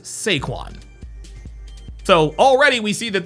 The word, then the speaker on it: Saquon: His name is not Saquan. His name is Sequin.